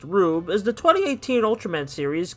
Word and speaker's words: R/B: Ultraman R/B, pronounced Rube, is the 2018 Ultraman series continuing the success of the new generation line of its collectible gimmicks based on past Ultraman.